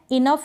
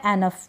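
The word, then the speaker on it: enough: करें लाफ ये है इनफ क्या है इनफ या एनफ दोनों तरीके से इसका उच्चारण होता है इनफ या एनफ यह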